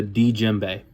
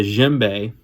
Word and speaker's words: djembe: problem you have the djembe the D is silent which is a a